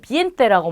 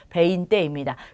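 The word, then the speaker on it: veinte: 베인떼입니다. 베인떼. 발음을 비엔떼라고 많이 하시는데 우리 음료 사이즈 중에 벤티 사이즈라고 있어요. 그거 기억하시면 돼요. 베인떼입니다.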